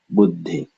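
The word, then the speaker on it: बुद्धि: And so first syllable, bu, and then pause, and then de. And so altogether it is buddhi, buddhi, buddhi, buddhi, buddhi. Notice the slight pause, buddhi.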